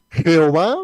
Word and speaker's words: Jehová: Y vamos a seguir con otro nombre que aquí prácticamente hay tres maneras de poderlo pronunciar, de acuerdo, digamos, a los estudios que han hecho grandes biblistas. Y es Jehová de una parte, de otra parte Yahvé y de otra parte Yahweh.